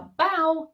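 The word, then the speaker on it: bough: is no rain and the final example is a bow which is a large tree branch those are all the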